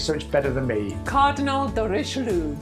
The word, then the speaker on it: Cardinal de Richelieu: Cardinal de Richelieu. You see, she rolls her R.